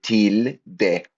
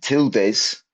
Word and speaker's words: tilde: As you can see here, tild. That's how you pronounce it. And tildes. I slipped into the English pronunciation there.